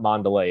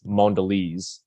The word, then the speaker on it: Mondelez: is now under so it's actually not Mandalay it's it's Mondelez is the pronunciation closer than yours I knew the bisco